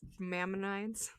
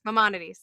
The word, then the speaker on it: Maimonides: Mammonides, the charity baseball event. The team. I don't know what it's called. Maimonides.